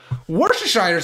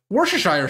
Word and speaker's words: Worcestershire: Worcestershire sauce. That's how not how you pronounce it. Worcestershire sauce.